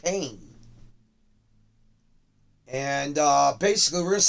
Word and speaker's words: Payne: I know you know it sounds like Pine, but what Mr. Hovis has told me, it's pronounced Payne.